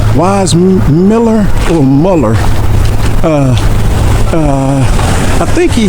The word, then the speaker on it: Weissmuller: Weissmuller or Muller? I think he had a German name, but the American pronunciation is, we always called him Johnny Weissmuller.